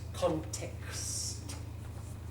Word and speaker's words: context: with things like this context context say it slowly and stretch it out if it's a problem context and kind of spit the T context there's a puff of air isn't there remember that